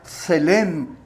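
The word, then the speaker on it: צלם: Luego viene la palabra hebrea que significa que se pronuncia selem, que traduce imagen, que se refiere a una representación o reflejo.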